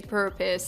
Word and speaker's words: purpose: Of course, if you're speaking with an American accent, you will pronounce the R. You will say purpose.